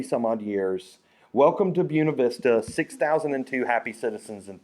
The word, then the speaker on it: Buena Vista: And then my two favorites, Buena Vista, Virginia. They pronounce things wrong in Virginia to tell whether you're a Yankee. So to everyone else, this is Buena Vista, but there it's Buena Vista.